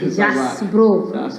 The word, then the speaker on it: Jaxbro: Je prononce bien. Jasbro.